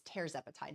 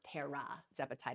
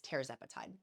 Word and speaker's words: tirzepatide: that please forgive me it's teepati not Terra zepeti it's teepati like mararo is mararo